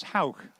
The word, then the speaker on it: Hauk: H-O-W-K is the way to write it phonetically, I think.